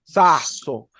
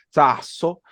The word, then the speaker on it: sasso: Sasso. Tienen allí la pronunciación de la doble S y la pronunciación de la S cuando está al principio de las palabras.